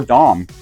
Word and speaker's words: Dam: He's going to drop one of these M's, and that's going to create the legendary Dam Company, or Dom. It's pronounced both ways.